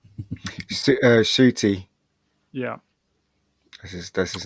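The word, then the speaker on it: Ncuti: um so the big news was how to pronounce this guy's name uh shooty yeah this is that's his name shitty i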